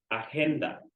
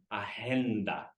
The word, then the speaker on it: agenda: The next one, agenda. I heard a lot of agenda, like with an H. We try to pronounce the G a little more.